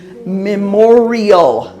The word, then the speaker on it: Memorial: when is Memorial Day Memorial yeah so this actually has four syllables Mim or re oh